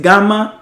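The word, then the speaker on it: γάμμα: que hacer la diferencia es gama y no y de yema es gama esta letra es gama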